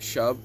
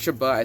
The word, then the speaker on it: Shuba: Most people pronounce it Shuv, but it's Shuba.